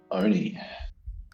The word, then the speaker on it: Oni: Oni. Like Tony, but with a silent T.